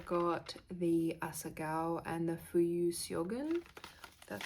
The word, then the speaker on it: Fuyu: I got the Asagal and the Fuyu. That's how you pronounce it.